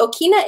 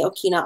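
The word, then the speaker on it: ʻokina: The okina is pronounced as a glottal stop.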